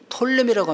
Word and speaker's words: 프톨레미: 그리고 이쪽 이집트는 톨레미라고 합니다. 푸 발음 안 해요.